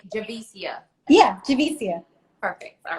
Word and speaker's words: Javicia: you and let me say this i am pronouncing your name correctly when i say javisia yeah jamesia perfect all right i know if